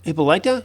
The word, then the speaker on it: Hippolyta: scene with that connie nielsen as queen hippa hippolyta yeah that's how you say it wonder woman's